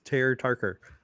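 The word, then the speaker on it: Pter Ptarker: His name is it's PTER and then PTARKER because it's like instead of it being Peter, but it's like spelled like pterodon, like PTER. So it's Ter Tarker, basically.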